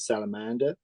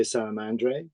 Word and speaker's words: Salamandre: So you could call it salamander. You could say salamandre, but effectively, that's pretty much, that was the thinking behind it.